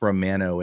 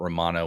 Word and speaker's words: Romano: It's pronounced Romano and not Romano, which is so irritating to me.